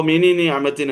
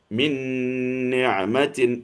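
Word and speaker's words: مِنْ نِعْمَةٍ: അപ്പൊ മിനി നിഅമത്തിൻ എന്ന് പറയാണ്ട് മിൻ നിഅമത്തിൻ എന്നാണ് പറയുക.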